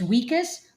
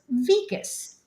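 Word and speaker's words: Wikus: Vicas. It's spelled with a W. So, I keep wanting to say his name is Weakas, but it's pronounced Vicas.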